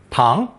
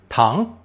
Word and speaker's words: 堂: Pronounced second tone, tang, tang.